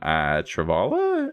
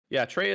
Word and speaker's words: Kreia: It's really cool to see, Nihilus and Scion and Travala. Is that how you say her name? Treya.